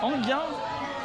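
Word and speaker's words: Enghien: Eugène, comment vous prononcez Anguien. Anguien.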